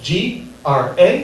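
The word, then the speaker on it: Grá: Yeah, technically in Irish Gaelic, my name is pronounced Gra. I choose to pronounce it Gray because Gra sounds stupid.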